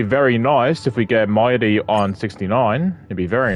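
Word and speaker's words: Mydei: But first and foremost, we've been trying to pull for me or Mighty, that's how you say his name.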